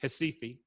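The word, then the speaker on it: Recife: in the red box pronounced in portuguese hasifi now if you've ever been to cifi or brazil or south america or you've never been i'll bet you know that in hesifi in brazil in south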